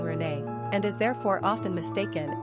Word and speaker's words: Renée: We often hear about how the masculine René is pronounced just like the feminine Renée, and is therefore often mistaken as a girl's name.